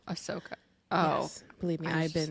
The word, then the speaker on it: Ahsoka: Wars where a Ahsoka it's not aoka it's aoka oh Ahsoka oh believe me I've